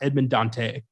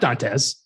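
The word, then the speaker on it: Edmond Dantès: My favorite thing is that the character is supposed to be pronounced Edmond Dante. Is it really? Yeah, it's not Dantes, but nobody told Kevin Reynolds and he just rolled with it.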